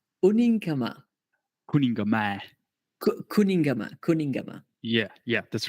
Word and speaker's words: Kuningamäe: By the spelling, which you might be able to see, it sounds about right. Yeah, it's pretty much as the spelling is.